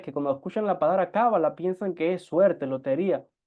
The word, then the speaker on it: Kabbalah: cuando escuchan la palabra cábala piensan que es suerte lotería aquí no estamos hablando de eso la pronunciación correcta en hebreo es cabalá en nuestras clases o